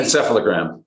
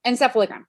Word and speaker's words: encephalogram: right okay almost close can you pronounce that for me correctly encephalogram encephalogram okay just need to